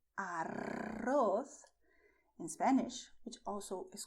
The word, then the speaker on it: arroz: It's a little different when you say arroz, because with arroz, you're expelling the air. And when you do so, your tongue is going to tremble and is going to vibrate, which is why you have this arroz sound, which is done with the tip of your tongue, touching the front teeth, but vibrating when you expel the air.